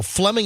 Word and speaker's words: Fleming: You guys know where Fleming Island is? Never even heard of it. Fleming Island is in the Jacksonville area? It is. Yeah. So Fleming Island is this island that's sort of in the St.